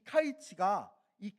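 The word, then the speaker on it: קַיִץ: 그리고 8장에서는 여름 과일 한 광주리를 환상으로 보여 주시는데 왜 하필 여름 과일이었을까?이 이 여름가일이라는 히브리어 단어는요 카이츠입니다.이 카이츠인데요.이 카이츠가이 끝이라는 세상의 끝이라는이 히브리어 단어인 캐치와 발음이 매우 유사합니다.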